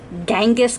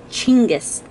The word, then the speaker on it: Chinggis: you look up Chinggis, we Americans call it Genghis Khan. We are pronouncing it and spelling it completely wrong. And Chinggis, man. The Mongolians get very upset about that because it is Chinggis, C-H-I-N-G-I-S, G-G-I-S.